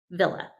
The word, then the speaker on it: Wille: Um, it is pronounced villa with a V, but it's spelled with a W.